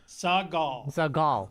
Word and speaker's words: Seagal: Seagal. All right. Like Gal Gadot.